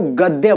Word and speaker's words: गद्य: मैंने बोला गद्य, उसको गद्य बोलते हैं, गध नहीं।